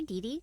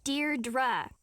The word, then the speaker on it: Deirdre: Hi, Dee Dee. Deirdre. I know it's got that tricky second syllable, but I figured it out by age 2.